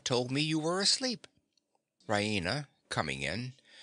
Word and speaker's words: Raina: She pronounces it Raina with the stress on the E.